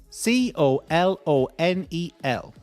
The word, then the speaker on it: colonel: c o l o n e l. Colonel. Don't ask me why. Colonel. I read somewhere that the pronunciation was taken from the Italian, but it's not.